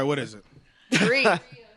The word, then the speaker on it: Drea: Dree. Dree? Just think DRE.